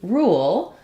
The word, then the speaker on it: rule: how we do real when it comes to rule uh this follows the spelling rule that says